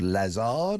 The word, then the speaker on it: Lazard: He used to be the chairman of a multi-billion-pound asset management firm called Lazard. I think I pronounced that incorrectly, but there you go.